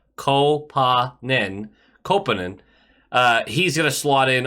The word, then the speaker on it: Koponen: Kopanen, which is how he wants his name pronounced, I guess. Kopanen.